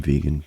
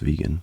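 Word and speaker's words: VGAN: next up we got I guess this is just pronounced vegan but VGA an is how it's spelled chocolate this um this is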